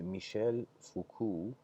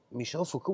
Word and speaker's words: Michel Foucault: having a debate with Michel Foucault I'm trying to say it like it's the French would say and he was with